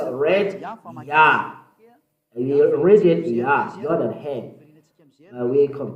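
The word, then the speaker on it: יה: How to pronounce it? Yah. According to the Hebrew, when you see this word, it is read Yah in Hebrew.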